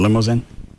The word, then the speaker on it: Limousin: Is it Limousin? Doesn't have an E on the end of it. Limousin? I have to see how it's spelled, I could tell you. It's limousine without the E on the end of it.